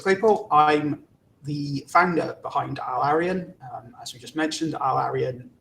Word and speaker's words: AilArian: And James, I'm not quite sure how to pronounce the name of the company. Maybe you can tell me. Yeah. AilArian? So AilArian.